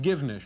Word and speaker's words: Givnish: Hi, is that your correct pronunciation of yes, your last it is. Name? Givnish.